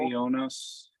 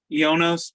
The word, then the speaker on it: Ionos: Our nominees are, I looked up the Greek pronunciation of this word and it's beautiful. Ionos. Ionos.